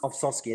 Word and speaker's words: Ovsovsky: Did I pronounce that correctly now? Ovsovsky, that's right, yep.